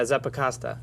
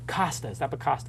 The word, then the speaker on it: Zappacosta: Zappacosta, I pronounced it correctly. Yeah, Zappacosta. Zappacosta.